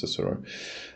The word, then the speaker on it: Cicero: Israel regi and chick Sis cisero Sis cisero yes it is I'm sure it's pronounced Cicero um and his his